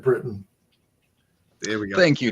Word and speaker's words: Briton: And Mark Griffiths is pronouncing it Britain.